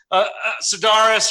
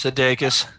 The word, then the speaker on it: Sudeikis: Did you see Jason Sudeikis, Sudaris, or whatever his name is? Sudeikis. Yeah, however you pronounce it.